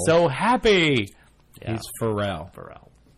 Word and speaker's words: Pharrell: he's not Because Pharrell. he's so happy. Yeah. He's Pharrell. Pharrell. Like for real, Pharrell. Only different.